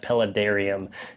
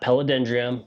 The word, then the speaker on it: Paludarium: Today I'm excited to go through and finally do a maintenance on the Paludarium, not Paludendrium.